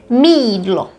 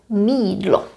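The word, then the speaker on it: mýdlo: Mídlo, mídlo, soap. Y and I isolated sound exactly the same. They would change certain consonants, but they're still the same sound. I, jídlo, mídlo.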